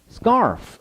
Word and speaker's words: scarf: 스카프 이러지 말고 이러면 한국말이잖아요. scarf 이런 식으로 강조해 주시면 좋겠습니다. 자, 하다 보면 이런 발음 잘 안 됩니다.